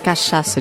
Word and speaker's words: cachaça: Yes, cachaça. Do you know how to spell that?